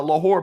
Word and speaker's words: Lahore: I thought you were about to give us the history of uh Lahore, Pakistan. And also, by the way, it's spelled L A H O R E.